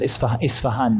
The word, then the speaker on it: Isfahan: Asfahan, it's called Isfahan now. The Arabic term, the Arabic pronunciation of the city is Asbahan.